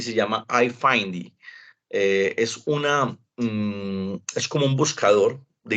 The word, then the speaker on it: iFindy: Recuerden, se llaman iFindy. Se escribe I-F-I-N-D-Y. Yo ya se los voy a enviar, ahorita les muestro. iFind, como buscar.